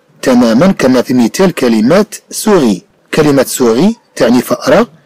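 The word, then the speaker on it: souris: كما في مثال كلمة سوغي. كلمة سوغي تعني فأرة. إذن كما نرى بأن كلمة سوغي تتضمن جوج ديال حرف أس، حرف ينطق وحرف في آخر الكلمة لا ينطق، كما هو الحال للكثير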